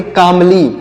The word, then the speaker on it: calmly: तो इसे क्या पढ़ेंगे, इसे पढ़ेंगे कामली। यहाँ पर जो यल लिखा गया है यह साइलेंट है, हम इसे नहीं पढ़ेंगे।